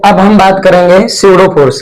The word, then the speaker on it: pseudo: अब हम बात करेंगे सडो फोर्स की लास्ट सबसे लास्ट टॉपिक आपका क्या है चैप्टर का सडो फोर्स यहां पर बेटा P साइलेंट होता है।